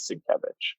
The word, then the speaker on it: Sienkiewicz: But then I've heard other people pronounce it. I think it is Sienkiewicz.